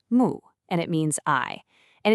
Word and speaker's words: 目: This is mu, pronounced mu, and it means eye.